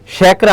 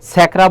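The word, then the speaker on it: স্যাকরা: শ্যাকরা। আমরা দেখো এখানে উচ্চারণ করছি শ্যাকরা। ছ্যাকরা বলতেছি না বা গাছের পাতা সবুজ সবুজ এটাও বলছি না ছয় এর মত উচ্চারণ হচ্ছে না এখানে কি হবে তালবস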